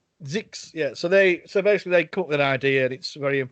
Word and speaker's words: Zyxx: I don't know how they pronounce that. It's Zix.